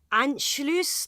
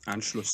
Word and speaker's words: Anschluss: Now, the last Nuremberg rally in 1938 celebrated Anschluss. That's how it's pronounced, isn't it? Mm-hmm. Anschluss.